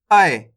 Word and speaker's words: ऐ: उसके बाद है अपने आय। इसका उच्चारण कैसे करेंगे? आय करके थोड़ा जोर लगाएंगे इसको उच्चारण में, आय, जैसे ऐनक।